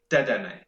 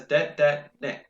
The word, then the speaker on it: Dedenne: If you look at the katakana of the name, it says de-de-ne. So you have to pronounce it because there is a character for n. So if it was supposed to be deden, it would be de-de-n, deden.